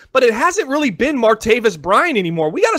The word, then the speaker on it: Martavis: mispronounce his name anymore it's martavis right why are you adding a little tavius this is just making sound a little more Octavius right Octavius okay well